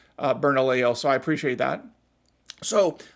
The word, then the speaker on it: Bernalillo: And thank you for those of you who helped me clarify how to pronounce Bernalillo, so I appreciate that.